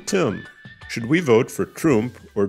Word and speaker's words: Trump: In a syllable closed with a consonant, read letter U short, like in hug. Spell Trump, like hug.